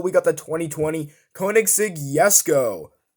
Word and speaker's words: Jesko: got the 2020 koenigsegg yes go most people pronounce it yes go and that's how it's supposed to be pronounced but a lot of people pronounce it jessico and that's completely fine